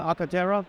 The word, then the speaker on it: Arcartera: Absolutely, yeah, Arcartera. Arctera. What does that stand for? Where does the name come from? The name actually derives from Spanish, cartera, which means wallet.